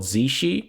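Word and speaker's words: Tsaesci: They are also called Well, I'm going to use the Kirkbride pronunciation here. They are also called Zeshi but there are many many various pronunciations for this word.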